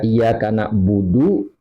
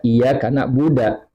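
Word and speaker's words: نعبد: Jadi dibaca iya kana budu, dia baca iya kana buda. Maka hal ini tidak membatalkan bacaan.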